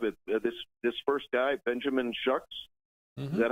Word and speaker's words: Shuck: This first guy, Benjamin Shucks, is that how he pronounced his name?